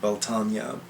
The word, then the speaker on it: Beltane: wheel of the year we have beltane or as i love to pronounce it beltanya beltane has the names